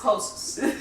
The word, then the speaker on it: hosts: you Sayo host hosts it's just host hosts make sure that you get the T and the s in there when you spell it